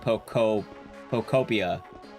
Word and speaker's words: Pokopia: Found out it's pronounced Pokopia.